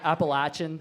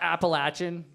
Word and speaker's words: Appalachian: that one tomato potato appal appalachin that's the most common one by far always that up it's pronounced Appalachian I'm G to throw an Apple at you correct see that's what